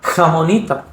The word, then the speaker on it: Ramonita: They don't have that r phoneme in their accent, so she pronounces her name Ramonita.